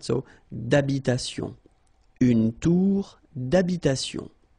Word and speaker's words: d'habitation: Remember, H doesn't exist in French, well, in most of the cases. So, it does mean that you don't pronounce it, all right? So, d'habitation.